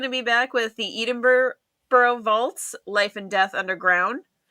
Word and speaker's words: Edinburgh: He corrected me last time, so it is Edinburgh.